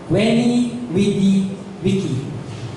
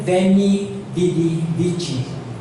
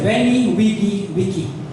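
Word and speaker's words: veni, vidi, vici: Kung familiar kayo sa quote and quote Julius Caesar Wenny Widy Wicky pero ano non Venny Vidichi pero ang pronunciation non Wenny Wicky ah sorry Wenny Wigy Wicky in English, I came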